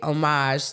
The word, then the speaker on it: homage: Well, first of all, Twitter Talk is the segment where we pay homage. Homage. You don't pronounce the H in French.